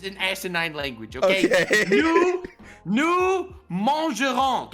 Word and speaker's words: mangerons: Nous mangerons. Guess how you spell mangerons? Well, it has a silent S at the end.